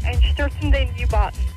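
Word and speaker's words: Einstürzende Neubauten: just thought you'd like to know the band is pronounced Einsterzuende Neubauten.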